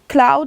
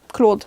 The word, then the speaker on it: Claude: I'm gonna be pronouncing it Claude. That's what seems logical to me, coming from someone who is a French speaker. If it is Cloud, I'm sorry, I'm gonna adjust whenever I find that out.